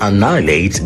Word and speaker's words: annihilate: Authorities are worried Galami will soon annihilate Ghana's water bodies.